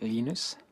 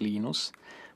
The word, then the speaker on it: Linus: I speak Swedish it's heinous when speak Finnish it's Lino's when I speak English its Linus and I really don't